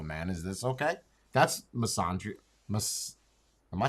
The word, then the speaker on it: misandry: That's misandry. Am I saying it right? I feel like I feel like that's a disease. Misandria.